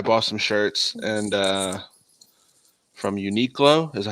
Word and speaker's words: Uniqlo: Well, basically, I bought some shirts and from Uniqlo, is that how you say it, Gil? Yeah, and, Uniqlo.